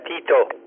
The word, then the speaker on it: Tito: Yeah, Tito. But you got to say it right with your tongue on your teeth.